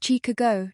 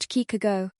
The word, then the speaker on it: Chicago: Break it down into syllables and practice stressing the correct part like Chicago, not Kikago.